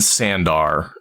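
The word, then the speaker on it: Seandar: And that's in Sandar, in Seanchan. Mm-hmm. Right, the Court of the Nine Moons is in Sandar, Shandar, however you want to pronounce it. It's Shandar in the audiobook, but whatever.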